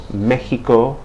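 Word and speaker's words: México: like an S um in the word Mexico you see an X but that X is pronounced like the H in hat or ham okay so Mexico and again in Spain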